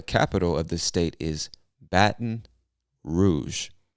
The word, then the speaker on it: Baton Rouge: state is baton rouge i know it looks like baton rouge and i guess you could say it that way but most of us don't really pronounce the t in baton so we say baton baton rouge baton rouge louisiana all right cool the